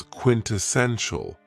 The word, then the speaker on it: quintessential: Another very cool adjective is quintessential, and this word has 4 syllables, and the stress is on the third syllable, quintessential.